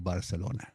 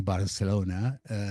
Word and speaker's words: Barcelona: So they shortened it up to Barcino, and Barcino distorted to Barcelona. By the way, we say Barcelona with an S, but it's Barcelona. That is the proper pronunciation of the city, okay?